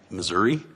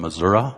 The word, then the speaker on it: Missouri: fantastic I'll be from I don't usually say it right I say it as Missouri but it's actually I'll be from Missouri on that one it's the